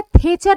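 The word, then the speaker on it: Thatcher: हूं important Margaret दैटचर कहा जाता है थेचर लिखा जाता है दैटचर जैसा स्पेलिंग पढ़ते हैं थेचर द पाथ 17 पार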